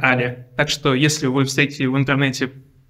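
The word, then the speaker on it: a11y: Читается как ALI.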